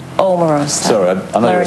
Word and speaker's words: Omarosa: weat link as being Amorosa Omar Ro up here if you're going to say my name say it right what's your name Omarosa sorry I know you're